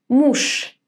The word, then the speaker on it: муж: How do we pronounce this word? Correct. Муж with sh at the end.